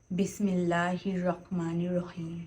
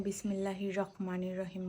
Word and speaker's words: বিসমিল্লাহির রাহমানির রাহিম: বিসমিল্লাহির রাহমানির রাহিম। আপনি যে এখানে বিসমিল্লাহির রহমানির রাহিম বললেন এখানে কফ এমন কিছু নাই যে ক উচ্চারণ হবে।